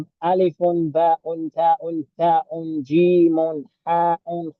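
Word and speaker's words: ألف: So we don't want to pronounce that un sound, so we drop it. We say alif.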